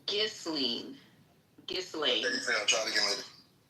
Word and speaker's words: Ghislaine: So from Radar Online, Gasoline, and we've already discussed the proper pronunciation of her French name, and I know